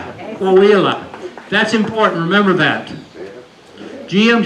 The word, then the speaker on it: Coahuila: Somebody pronounce this for me. Coahuila. Coahuila.